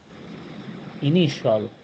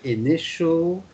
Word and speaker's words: initial: so in this case when you see ti like for example this word how do you pronounce uh this word please uh andrea initial that's right initial essential um um oh